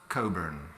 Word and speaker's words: Cockburn: My name is actually pronounced COCKBURN, and one of the great pleasures for me to be here in Portugal is the fact that there's a Porto which people here call Cockburn Porto, but is properly pronounced Coburn.